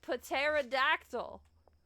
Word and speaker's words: pterodactyl: It's a pterodactyl. But the P is silent because you don't pee out loud.